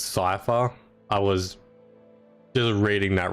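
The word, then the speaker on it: Cypher: Other than that, I can definitely notice I noticed that I was pronouncing the um name wrong for Cipher. I was calling Corpo for some reason, I guess, a few patches back, but it's Cipher.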